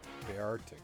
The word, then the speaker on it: Beartic: Beartic. I always kind of give that two syllables, even though it's Beartic. I mean, it's literally spelled Beartic, and it is a bear, but it's an Arctic bear, and so kind of